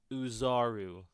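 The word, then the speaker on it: Oozaru: The Ozaru or the great Uzaru. It's pronounced Uzaru.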